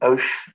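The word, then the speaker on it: Höch: Alors, je ne parle pas allemand, donc on dit Hoch. Je vais prononcer à la française, c'est la seule façon de ne pas l'écorcher, donc ça va être ridicule, c'est Hoch.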